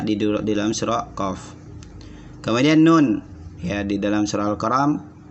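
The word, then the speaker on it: نٓ: Cara bacanya nun, nun, nun. Ya, dibaca 6 harokat atau 6 tingkatan irama.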